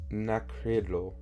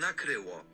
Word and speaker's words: nakryło: means covered, apparently, nakryło, I don't know why it's like the K-R-Y w sound that's like messing me up, I guess. Nakryło, because I'm saying quiro, not kryło.